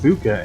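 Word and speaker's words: Fuuka: I think it's Fuka's name. Because, you know, despite the fact it's pronounced Fuka, it's spelled F-U-U-K-A.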